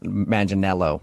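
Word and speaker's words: Manganiello: turn down someone who looks exactly like Joe Maninello. Uh how how do you know that? Uh because we talked to him and he told us that a lot of people say he looks like Joe Mangel Maninello, right?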